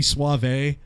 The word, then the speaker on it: Suave: so Johnny suave suave I know it's pronounced Johnny suave but you know ever since I've met the guy it's always been suavi you know Johnny suavi so suave I'm giving